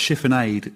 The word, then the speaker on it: chiffonade: Ainsley's pronouncing that wrong. It's chiffonade.